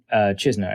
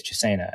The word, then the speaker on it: Chisena: someone like a Dan Chisna, I guess Chisena is how they're pronouncing it now, who's now on IR.